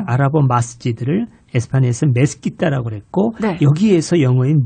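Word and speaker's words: مسجد: 그리고 이제 이 모스크는 영어식 발음이고 아랍어로는 마스지드라고 그래요. 마스지드.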